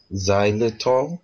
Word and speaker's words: xylitol: calcium magnesium powder, 3 tablespoons of, I can't pronounce this, xylitol powder.